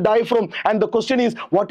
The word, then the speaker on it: diaphragm: structure is called diaphragm in diaphragm the letter g is silent my de student this is called diaphragm and the question is